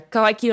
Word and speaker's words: Kohai Kyun: So it's Kohai, like the Kohai to your senpai. And then Kyun, because that is such the cutest onomatopoeia ever.